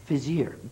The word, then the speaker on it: Fizier: Did I say that correctly? No, I don't think so. No, but you pronounce it for me. Adrian Fizier. Fizier, good. And I made a mistake.